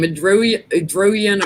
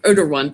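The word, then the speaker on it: Erdoğan: Erdogan. I can never say his name. The Turkish president. He's coming into the Erdogan. Erdogan.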